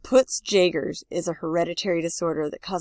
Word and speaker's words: Peutz-Jeghers: Peutz-Jeghers, pronounced poots jagers, is a hereditary disorder that causes polyps in the stomach and intestine.